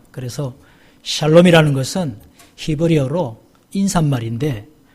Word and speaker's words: 샬롬: 샬롬 샬롬 샬롬 샬롬 발음을 잘 해야 되요 이거 잘못하면 살롬 이 아니라 죽일 놈이 된다고 예 그래서 샬롬 이라는 것은 히브리어로 인산